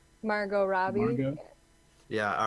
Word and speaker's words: Margot Robbie: So I think I don't know how to pronounce her name. Is it Margaret Robbie? Margot Robbie.